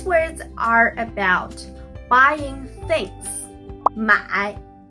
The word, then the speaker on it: 买: First, 买 The third tone, you can move your head like this to pronounce the third sound.